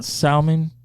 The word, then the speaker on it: salmon: Salmon? Salmon, yeah. Did I say that? Did I say that? Yeah, it's okay. The L is silent. Salmon.